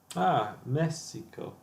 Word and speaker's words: Messico: Mexico.